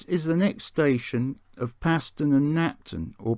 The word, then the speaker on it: Paston: fields so this is the next station of paston and napton or pronounced parson and napton as i've been told it served